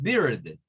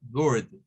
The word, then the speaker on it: bird: Ojo, no es bird, no es con I, es bird, bird. Es un sonido que es casi como decir una U con una R, para que lo comprendamos.